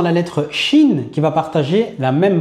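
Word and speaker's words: شين: Maintenant, passons à la lettre chin qui va partager la même base d'écriture. La lettre chin, c'est comme le ch en français lorsqu'on va dire le mot chien ou le mot chat.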